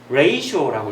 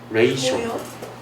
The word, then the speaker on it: ratio: 근데 라티오는 아니고 정말 뜻밖의 발음인데 ratio라고 읽어요. ratio. ratio.